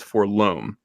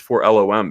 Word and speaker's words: FOR LOM: Uncle, I always heard you pronounce it for LOM. I always thought it was for loam. The other droids have their designations pronounced like words, example 3PO, R2, etc. Yeah, I understand, but it's for LOM because it's for the love of money.